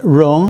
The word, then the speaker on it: 戎: This character is pronounced Rong, and it comes from basically the dagger axe and a shield.